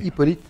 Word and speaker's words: Hippolyte: We're coming on now to Jean-Philippe Rameau's, how do you pronounce Hippolyte? Hippolyte et Aïs.